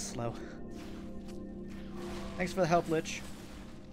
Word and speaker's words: Lich: Thanks for the help, Lich. Every now and then I hear people pronounce it as lick, and I'm just like, go fuck yourselves. That's not how that works.